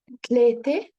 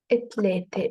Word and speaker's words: ثلاثة: And you can either pronounce it tlete or itlete if it's easier for you.